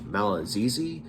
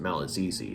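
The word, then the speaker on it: Malagigi: One of which is a wizard by the name of Malazizi. It's actually spelled Malagi. But it's pronounced Malazizi according to the editor's notes.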